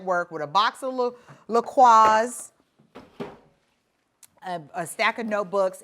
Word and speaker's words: LaCroix: we've made that work with a box of lacroix uh a stack of notebooks and then my nutribullet box and if you're telling me that it's lacroix you're wrong it's pronounced lacroix anywho that's the first part of the basics